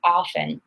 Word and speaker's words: often: word and a lot of people do pronounce the T but I'll admit it's probably more common to say often but it's your choice